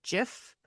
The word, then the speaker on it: GIF: Some people say GIF and some people say JIF.